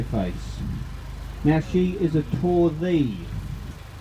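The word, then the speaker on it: Torddu: Now she is a Torthee. No, it's not Tordu, it's Torthee. T-O-R-D-D-U. Correctly pronounced Torthee.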